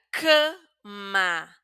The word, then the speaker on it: cama: Esta primera app la pronunciamos de una manera un poco más cerrada, nasal y ya saben por qué. Si vieron la primera clase, porque tenemos una letra M después de la A.